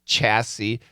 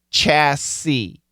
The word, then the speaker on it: chassis: Now we have chassis. So it's funny. Chandelier, this is an SH. I think this is French. But anyway, this is a CH. Chassis.